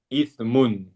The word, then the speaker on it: إثم: يضل لا Inna ba'da إن بعد الظن الظن إثم ithmun. Vous إثم voyez, Arsène, ithm, c'est un péché. Ithm. Mais si on dit ism, c'est un nom.